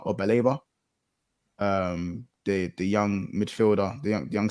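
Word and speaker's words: Baleba: Is it Belba or Beleba? The young midfielder, the young center midfielder for them. I think it's Baliba, like Saliba, but yeah, like Baliba.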